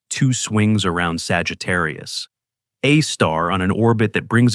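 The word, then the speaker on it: Sagittarius A*: The black hole at the center of our galaxy is called Sagittarius. A star, pronounced Sagittarius, a star.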